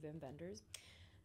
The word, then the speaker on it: Wim Wenders: which is directed by Vim vendors um in German they're W's but it's German so you pronounce it VI vendors um he directed Paris